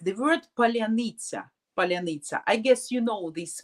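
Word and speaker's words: паляниця: So like the word Polyanitsa.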